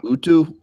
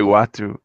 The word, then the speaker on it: Uatu: Utu? I say Uatu. Uatu, okay. So there's another one in my dialect hall of fame. But everybody I ever hear say it says Uatu, so that's just the way I say it.